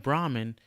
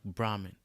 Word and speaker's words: Brahma: One of the most important gods in Hinduism has a name that sounds very much like Brahman. This god's name is Brahma. Brahma. This Brahmin minus N.